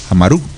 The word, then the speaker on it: Amarú: Si buscamos en la forma de escritura, tiene tilde en la U, Amaru.